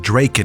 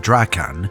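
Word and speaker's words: Drakan: One dude, Lowerniel Veridian Draken, which by the way, in my God Wars lore video I pronounced it Draken instead of Dracan and nobody felt the need to correct me for that one.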